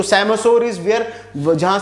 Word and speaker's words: psammosere: Then we have the सैमोसोर। सैमोसोर में P silent है, याद रखिएगा, PSAMMOSERE।